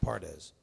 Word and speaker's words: Pardes: foremost understand something called pardes how many of you know what that is PA our DES okay but it's really P our D s but they turned it into the acronym so you can pronounce it part is okay so how many